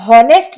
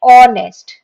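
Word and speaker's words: honest: ठीक है, ऑनेस्ट मैन में ये हॉनेस्ट नहीं कहलाता है, इसको हम जो प्रोनाउंस करते हैं ये करते हैं ऑनेस्ट, ऑनेस्ट।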